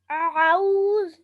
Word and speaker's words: أعوذ: So ایسے consciously pronounce کریں تاکہ zal آپ کا بہت prominent ہو. أعوذ. اعوذ.